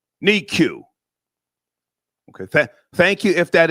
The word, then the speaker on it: NICU: Just Life 78 says, Star, it's pronounced NICU. NICU.